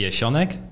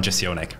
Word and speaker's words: Jesionek: So for the name, the Polish pronunciation would be Jesionek, but because I grew up in Austria, the German pronunciation is Jesionek, and then I usually just go by the English one, Jesionek.